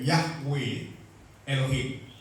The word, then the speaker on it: Yahweh Elohim: Ini bahasa Ibraninya bacanya seperti itu. Yahweh Elohim atau Jehovah Elohim.